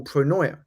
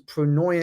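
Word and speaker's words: pronoia: This is the process of of tapping into a concept that I that I call pronoya. And it's a term that has been how do you spell that?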